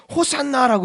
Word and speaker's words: 호산나: 호산나라고 이렇게 외쳤다는 거예요. 호산나. 호산나. 히브리어 호시아나 이런 뜻인데, 이런 발음인데 호산나입니다.